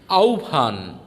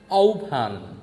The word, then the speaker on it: আহ্বান: আহ্বান। আ হয় বফলা আকা দন্ত ন, এর উচ্চারণ হবে আহ্বান। আহ্বান ইত্যাদি।